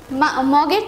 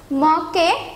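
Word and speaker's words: mug: তারপরে দেখতে পাচ্ছি একটা মগের ছবি। মগকে ইংলিশে মগ বলে না, একটু উচ্চারণটা অন্যরকম হবে, মাগ।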